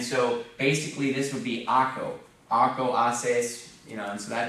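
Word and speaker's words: hago: Haco. Or not Haco, Aco. It would be Aco, because the H is not pronounced.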